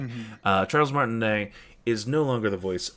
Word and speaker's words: Martinet: Recently, it has been announced that Charles Martinet is no longer the voice. Martinet? I think it's Martinet. It is Martinet. Mm-hmm. Charles Martinet is no longer the voice of Mario moving forward.